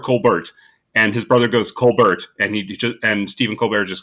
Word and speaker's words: Colbert: I pronounce it Levy. It's possible though, because Stephen Colbert, his family name is Colbert.